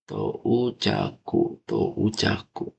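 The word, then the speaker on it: 到着: Ini itu kalau kita bedah kanjinya, ini bacanya itu Tochaku, Tou-nya panjang. Touchaku.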